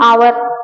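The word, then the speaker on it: hour: है लेकिन आवर क्यों तो इसका प्रोनाउंस हम हावर नहीं करते हम क्या करते हैं आवर इसमें जो है आपका एच साइलेंट होता है है ना आवर जब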